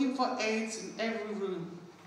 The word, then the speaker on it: Ayds: These AIDS, called AYDS, but pronounced AIDS, were little sweets that you used to eat to make you lose weight.